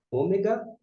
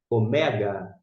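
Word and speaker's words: ωμέγα: português mas aqui ó esse assento indica a sílaba tônica Mega Omega o mega custo meramente como eu disse a gente fala Ômega Mas se for ler ao pé da letra o mega e como é que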